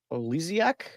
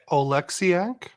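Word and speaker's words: Oleksiak: Jaden Schwarz gets his 26th from Olyiac. Oh man. And Otavanian. Uh to put it. Okay. Olexiac.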